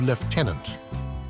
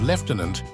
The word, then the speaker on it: lieutenant: how military jargon has impacted language particularly the pronunciation of left tenant the military has always been a significant influence on language often serving as a conduit for new terms and pronunciations in the case of leftenant its adoption and perpetuation in the British military